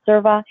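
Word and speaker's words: SIRVA: to vaccine administration is sometimes abbreviated it's SAR VA sometimes pronounced cerva it's an injury to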